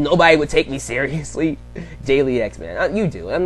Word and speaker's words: Dalyxman: Dalyxman. You do. I'm not saying it's... Okay, maybe I should shut up before I insult somebody. But it's Dalyxman. Dalyxman.